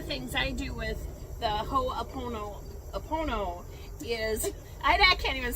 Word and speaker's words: Ho'oponopono: I call it the Honey Pony Pony, but it's the, how do you say that again? The Ho'oponopono.